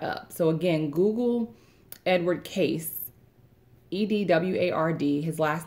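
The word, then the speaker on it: Cayce: helps break that up so again google edward case EDW ard his last name is spelled see a why c e thanks for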